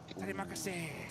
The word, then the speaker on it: Terima kasih: Oh, is it Terima kasih, right?